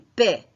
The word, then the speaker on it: paie: Nous payons, vous payez, il y paie. Ce qui va changer, c'est la prononciation. Je paie, ça veut dire P-A-I-E.